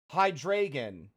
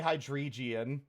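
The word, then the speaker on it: Hydreigon: would be a Pokemon whose name I've been pronouncing wrong for my entire life, ever since it was introduced. Hydragon. Hydragon. So it's it's eins dry, right? Hydragon. Yeah, I used to say hydrian.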